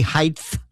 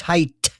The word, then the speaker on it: height: By the way, speaking of mispronunciations, do not say height. It's height. Why people say this, I have no idea.